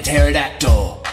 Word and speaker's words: pterodactyl: Spread those wings like a pterodactyl. The P is silent, remember.